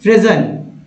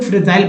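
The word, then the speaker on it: fragile: फ्रेजल, फ्रेजल, ऐसे लोग फ्रेजाइल पढ़ देंगे इसे, लेकिन यहाँ पर इसे फ्रेजल पढ़ेंगे, करेक्ट यही है उच्चारण, फ्रेजल, जिसे भंगुर या नाजुक कहते हैं।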